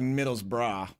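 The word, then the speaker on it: Middlesbrough: eye on him here I know it's like Middle's bra but in America we say Middlesboro because there's a Borough like near where I grew up I'm sure they're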